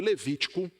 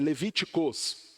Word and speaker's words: Levítico: lá no livro de Levítico, no capítulo 3. E se em algum momento aqui, na locução do estudo, na fala, eu pronunciar Levíticos, me perdoe, tá? É Levítico, tá?